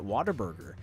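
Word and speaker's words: Whataburger: it's water a burger well it's Water Burger that's how water B that's how you're supposed to pronounce second of all how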